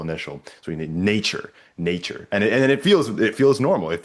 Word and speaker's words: Natur: So, as an example, I think the one that you just mentioned, Natur, Mm. Natur. It has it all. It's got this kind of final syllable stress, Natur.